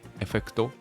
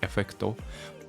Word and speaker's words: effect: And for example, this word effecto, in Japan we pronounce this word like effecto, but native English speakers don't pronounce this word like effecto. They actually say like effect.